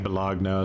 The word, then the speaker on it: bologna: I know you want me to pronounce it bologna, but I I like I pronounce bologn balagna.